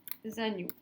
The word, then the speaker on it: agneau: Et puis le dernier, des agneaux. Pareil, il y a plusieurs agneaux. Agneau, ça finit par par le son O qui s'écrit E-A-U.